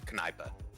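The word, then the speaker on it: Kneipe: the German words is spelled k-n-e-i-p-e and it's pronounced kanipa so if we still pronounced K's we would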